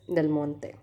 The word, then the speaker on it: Del Monte: This is an American brand, but I don't know why the pronunciation is like a Italian brand or French brand. Can't actually distinguish between the pronunciation of Italian and French people, but it is Del Monte.